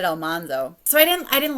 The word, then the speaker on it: Almanzo: listening to it and the audiobook narrator pronounced his name Almanzo now I never once thought that his name was elmanzo and maybe I'm wrong I don't know I've always pronounced it almondo so I didn't I